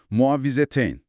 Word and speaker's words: Muavvizeteyn: Muavvizeteyn. Yanlış telaffuz etmiyorumdur umarım. Yook gayet doğru. Muavvizeteyn.